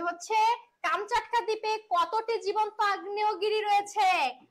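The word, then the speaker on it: Камчатка: কাট্টা প্রকৃত উচ্চারণ দেখো এখানে ভুল উচ্চারণ হচ্ছে গল্পতে লেখা আছে কামস চাটকা প্রকৃত উচ্চারণ হচ্ছে কাম চাটকা জায়গাটা কোথায় রাশিয়ার অন্তর্গত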